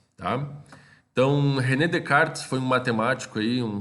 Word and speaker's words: Descartes: tá é se escreve Descartes mas o a pronúncia correta de Carnes tá então René Descartes foi um matemático aí um filósofo muito importante